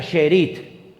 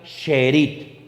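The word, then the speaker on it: שארית: Miren, la palabra remanente en hebreo es una palabra que se pronuncia sherit. Vamos a ver. Esa es la palabra en hebreo. Esa palabra se pronuncia sheerit.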